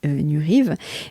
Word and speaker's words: Nuriev: Alors, Harry Nurive, alors je dis Nurive, mais ça s'écrit, parce que je crois que j'ai vu des vidéos où il dit Nurive, mais ça s'écrit Nuriev, N-U-R-I-E-V.